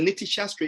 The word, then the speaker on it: Niti Shastra: So the Niti Shastra is full of these short statements which allow